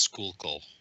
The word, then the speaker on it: Schuylkill: Apparently, it's pronounced Schuylkill.